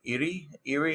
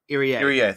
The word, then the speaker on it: Irie: Great Khan continued his undefeated singles reign against Shigehiro Iri. I still can't pronounce that right. Irie, thank you.